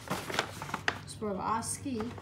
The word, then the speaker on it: Swarovski: So I am doing an unboxing from Swarovski is how you pronounce this, not Swarovski.